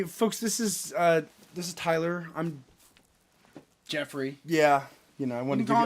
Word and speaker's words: Jeffrey: In the professional world, I'm Jeffrey, and I dropped the ERY. It's 3 syllables, folks. So, Jeffrey. Jeffrey, not Jeffrey. Jeffrey. Yeah, I need that hard R.